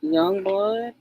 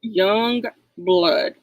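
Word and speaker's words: Yungblud: So, it's not like it it's not spelled like it's supposed to be, but Young Bloodood, Y U N G B L Yeah, right there.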